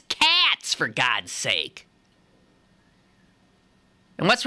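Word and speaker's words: Katz: um so yeah Bobby Kates tells me Kates is spelled k a TZ now come on I ain't born yesterday I told her that ain't Kates that's cats for God's sake and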